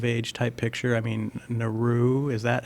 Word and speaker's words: Naru: I mean, Naru, is that how they pronounce her It's name? Naru.